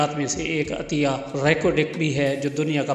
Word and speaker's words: ریکوڈک: پر واقع ہے۔ مقامی لہجے میں اس کا تلفظ ریکوڈک ہے، جس کے معنی ریت کے ٹیلے کے